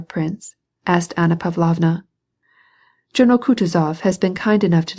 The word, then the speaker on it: Kutuzov: asked anna pavlovna jono kutuzov has been kind enough to desire me as his aide to comp he spoke in french and accented the last syllable of kutazov's name like a frenchman elise votrefem she will